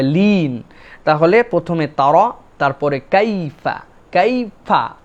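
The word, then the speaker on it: كيف: 2 নম্বরে কাইফা, এখানে মনে রাখতে হবে কাইফা, এই যে ইয়াটা, এটাকে বলা হয় লিন। আরবিতে একটা কায়দা আছে লিন, এটা হচ্ছে নরম করে উচ্চারণ হবে, ইয়ার উপরে সাকিন, আগে যদি জবর হয় তাহলে আমাদের জন্য এই ইয়াটা কাইফা এরকম যেন না হয়, কাইফা, কাইফা, মানে এটা একটা নরম হবে, লিন।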